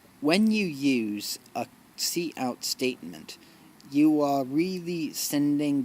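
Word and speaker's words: cout: properly to the stream see out see out pronounced see out is the name of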